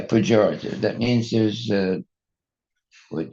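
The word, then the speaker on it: pejorative: Porative. Porative. Porative. Expressing Expressing contempt or disapproval. Yeah, that's the correct. You mis you mispronounced the words uh porative. Yeah. Pjorative.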